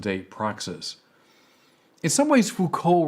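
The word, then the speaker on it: Foucault: proess in some ways Fuko represents by the way his name is is spelled f o u c a l t Michelle Fuko um in some ways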